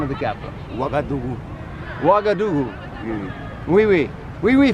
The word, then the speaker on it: Ouagadougou: How do you pronounce the name of the capital? Ouagadougou.